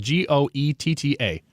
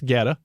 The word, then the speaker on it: goetta: called it was spelled g-o-e-t-t-a and I asked the waitress how do you pronounce is this goetta and she said no that's Guetta and I'm like what